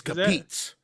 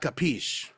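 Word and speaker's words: capisce: It's capiz. Capiz. Not capiche. What? Yeah, capiz. Yeah. Are the Italians saying it wrong? Because it's capiche. Well, so it's set in Naples, so maybe there's just a difference in accents.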